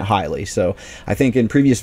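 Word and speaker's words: Heiligh: of this guy and the announcers were pronouncing it highly so i think in previous videos when i talked about him i may have said hi lie just because that was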